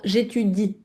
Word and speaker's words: j'étudie: Et juste attention à ne pas oublier la prononciation du i dans j'étudie. J'étudie.